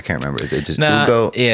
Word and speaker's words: Hugo: Do they not pronounce the H? I can't remember. Is it just Ugo? Yeah, it's more like Ugo.